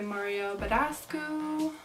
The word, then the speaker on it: Mario Badescu: look we are just going to spray my Mario Badescu that's how you say it we're gonna just